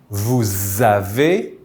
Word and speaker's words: vous avez: this s with the z sound, like zebra. This is why we say nous avons, vous avez, ils ont.